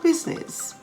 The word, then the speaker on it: business: think of some silent i words how about business b-u-s-i-n-e-s-s parliament p-a-r-l-i-a-m-e-n-t silent k words such as